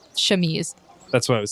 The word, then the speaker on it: chemise: Does she just have like an armored camise? Is that how you pronounce that? Chemise.